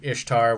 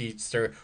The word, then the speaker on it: Ishtar: going on about how it's actually about ishtar which is supposed to be pronounced easter which it's not and eggs and and